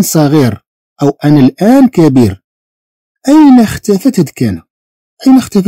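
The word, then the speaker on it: est: هذه تتنطق في هذه الحالة تنطق أي، تنطق أي.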